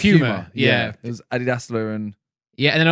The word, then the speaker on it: Adidas: This is one thing though that I feel like Americans say Nike and Adidas. Yeah. And you are right with Nike, but we are right with Adidas. Isn't it Adidas?